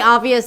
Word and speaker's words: obvious: Louis, and it's pretty obvious that that river is a big deal". "And it's pretty obvious that that river is a big deal". By the way, he did not pronounce the B here.